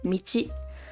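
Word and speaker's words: 道: movement of some kind and this is Road Michi or away or pass and pronounce and then this one's a little complicated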